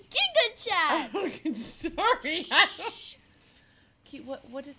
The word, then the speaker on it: Gigachad: me gives you a jiga Chad jaw line you can't even say it right it's Giga chat sorry okay what what